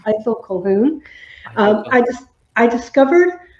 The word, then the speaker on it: Colquhoun: the first sentence of the book is it's pronounced either and it's either cohen um i just i discovered uh columns work